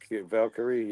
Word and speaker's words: Valkyrie: How did you like the Lyra Valkyrie, right? Am I pronouncing that right? Valkyrie, yeah, go on.